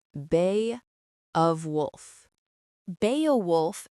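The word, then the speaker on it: Beowulf: The name is pronounced Beaowolf. Now, the t-shirt Enid gives Wednesday says Bay of Wolf. Beaolf and Bay of Wolf sound almost exactly the same.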